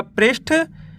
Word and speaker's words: पृष्ठ: प में ऋ की मात्रा प्रधा श और ठ मिल के बन जाएगा पृष्ठ।